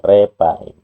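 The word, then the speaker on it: Rephaim: Jadi rapa yang banyak jumlahnya itu disebut rapaim. Nah, bacanya jadi repaim gitu.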